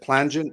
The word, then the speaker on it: Plangent: So you can, Jamie's, is it plangent?